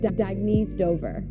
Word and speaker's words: Dagny Dover: Oh, it's pronounced Dagny Dover.